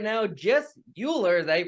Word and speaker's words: Uhler: have on Zoom with me right now Jess Euler is that you pronounce it yeah you got it remembered from